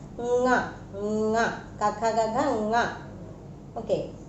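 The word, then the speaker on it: ङ: You have a habit like reading nya, but in Sanskrit you have to pronounce it as nga.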